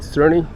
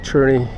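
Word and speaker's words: Černý: like the Communists so his name's pronounced David attorney not David Cerny um David cherny he became famous in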